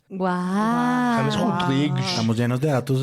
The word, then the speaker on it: James: Para explicarles cómo se pronuncia James Rodríguez, uno escribe Rames. ¡Guau! James Rodríguez.